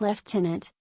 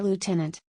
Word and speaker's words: lieutenant: In British English, the word is pronounced lieutenant, whereas in the United States, you'll hear lieutenant.